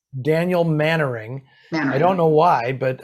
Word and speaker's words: Mainwaring: And his name is actually, even though it looks exactly like Mainwaring, it's pronounced Mannering. Mannering. Daniel Mannering.